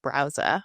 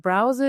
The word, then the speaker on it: Brause: you tell us what Browza is? Yes. And I'm actually super excited that you're pronouncing it correctly. I know it's a German word, so not the easiest, you know, feet. Uh but browser is basically a premium